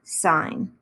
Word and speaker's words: sine: six of them are sign which we do abbreviate as s-i-n but we always still pronounce it sign and sine of theta